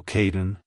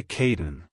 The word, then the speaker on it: Kadin: sound at the end keep the emphasis on the first syllable like hello Kaden goodbye Caden if you found the